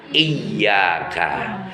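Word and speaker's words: إِيَّاكَ: Lafaz kata dalam satu makna iyyaka, di huruf ya-nya ada tasdid, double ya-nya, rangkap. Dibacanya iyyaka, hanya kepadamu ya Allah kami menyembah, wa iyyaka nasta'in, dan hanya kepadamu ya Allah kami mohon pertolongan.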